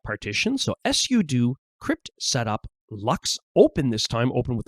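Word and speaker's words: LUKS: So, I'll run sudo crypt setup lux format. Lux is spelled ls and that stands for Linux unified key system.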